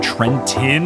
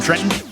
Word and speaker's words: Trenton: even made it to Trenton. My New Jersey soul. You can't pronounce the second T in Trenton.